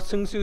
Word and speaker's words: Seungsoo: I know that they can never pronounce or spell Seungsoo, so I said, I used to go by